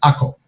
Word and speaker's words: Akko: acre above and the acre below and i'm saying acre but the proper pronunciation in uh israel of this city is ako the crusaders called it